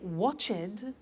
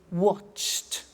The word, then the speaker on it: watched: the pronunciation becomes T we don't say watch it we eliminate the e and we say watched okay interesting hey so